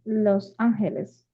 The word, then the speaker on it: Los Angeles: Is he lives um, in Los Angeles. The Angels. Yeah, yeah, which you'll notice that in English we pronounce things kind of off.